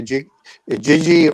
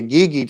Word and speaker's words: Igigi: the earth, or the Igigi, or the Igigi, depending on how you want to pronounce that, or Igigi. I've heard it pronounced all different ways, as the sort of earthborn offspring.